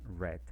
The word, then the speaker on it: read: como éste es irregular se pronuncia en pasado como el color es decir red adelante es el n